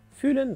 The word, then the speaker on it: füllen: А вот глагол fühlen, наоборот, произносим с кратким ü. И переводится он как наполнять или заполнять. Alle Bücher in meiner Wohnung füllen drei Schränke.